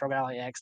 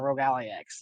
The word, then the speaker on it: ROG Ally X: Gotta say it right because I said it wrong before. It's an Xbox Rogue Ali X, not a Rogue Alli X.